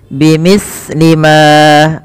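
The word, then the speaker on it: بِمِثْلِ مَا: Bimithli ma, hati-hati di dalam melafalkan huruf sa, jangan sampai sa ini memantul ya teman-teman, atau dia membacanya dengan huruf sin. Contoh memantul bimithli ma, bimithli ma itu memantul, atau dia membaca dengan sin bimithli ma.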